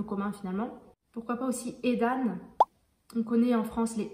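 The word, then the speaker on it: Aidan: Avec ce début, pareil, je crois que ça se prononce aussi Eden, mais ça s'écrit A-E. Et donc là, c'est A-I, Edan.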